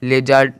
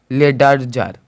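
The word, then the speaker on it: ledger: पहले डी है तो यहां पर डी का कोई भी उच्चार नहीं निकला है लेजर लेजर निकला है ना कि लेडर जर लेड जर नहीं निकला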